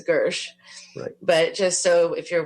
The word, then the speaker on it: Gershe: up but his last name is really spelled like it's pronounced Hershey but it's Gersh but just so if